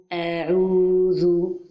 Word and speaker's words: أعوذ: So, give the lengthening to the letter Ain. The natural lengthening is 2 times haraka. La prolongation naturelle, elle est de 2 temps. So, the right pronunciation is أعوذ.